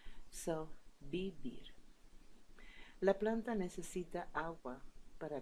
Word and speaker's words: vivir: Although you can see vivir with double V here, don't worry because V and B in English are pronounced just like B in Spanish. So, vivir.